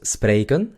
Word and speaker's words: spreken: Entonces tenemos spreken, que consta de 2 sílabas. Spray y kun. Spray, kun.